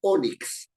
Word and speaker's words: ónix: se tilda la palabra ónix ónix un tipo una piedra no piedra oscura muy bonito la palabra ónix tiene dos sílabas o y termina perdón y la fuerza de voz está en la o es una palabra grave